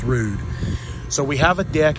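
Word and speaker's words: Ruud: It is pronounced Rude. It is not pronounced Rud. It is pronounced Rude.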